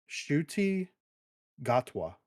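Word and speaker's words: Ncuti Gatwa: a minute ago uh it's Sho hold on shuti gatwa okay all right that that's how you pronounce silent shuti yeah right shuy gatwa debut as the time Ward some of those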